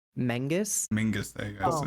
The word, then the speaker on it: Menzies: I think Menzies is who is apparently proper pronunciation is Mengus.